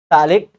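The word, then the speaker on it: phthalic: और टैलिक anhydride, इसका general formula ही याद रखिए, C8H4O3, टैलिक anhydride, P silent है, क्या था फिर से, C8H4O3, तो 8 का आधा 4 करिए, उसमें से एक कम करिए, O3 हो जाएगा।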